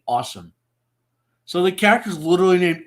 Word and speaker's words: Ah Sahm: But the way Bruce Lee's accent works, the character's name sounds like he's saying awesome.